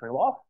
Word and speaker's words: Krylov: So he is to be, so General Alexei Krylov, that's the Russian pronunciation of that, is to be credited with a lot of modern expense calculation and computing.